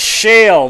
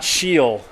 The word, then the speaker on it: Shale: incomplete third down and it's Shale not sheal Shale third and nine helping